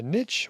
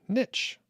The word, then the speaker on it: niche: if i remember right he did say niche so i think niche is probably correct but niche is often acceptable and that is what i say i think people are happy with either either one shah what's going